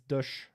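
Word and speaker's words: Dësch: In that case, it's pronounced as an This is dush.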